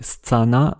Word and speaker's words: scana: Il a quasiment éliminé les consones molles comparé Stana avec le polonais Stiana.